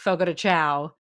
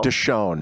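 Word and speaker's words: Fogo de Chão: The only reason I know it's not pronounced Fogo de Chao is because of working in radio.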